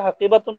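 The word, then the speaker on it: حديقة: তিলকা হাকিবাতু হাকিবাতু হাকিবাতু হাকিবাতুন হবে না হাকিবাতুন হবে উহা একটি বাগান তিলকা হাকিবাতু তিলকা হাকিবাতুন জামিলাতুন তিলকা হাকিবাতুন জামিলাতুন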